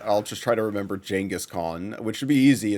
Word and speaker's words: Genghis Khan: I'll just try to remember Genghis Khan, which should be easy. It's like, just pronouncing it with a J, which I have a preference also, for.